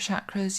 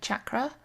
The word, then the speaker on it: chakra: to say is that the pronunciation can vary quite widely some people call it a Shakra others a chakra and I'll probably weave in and out between them so a chakra comes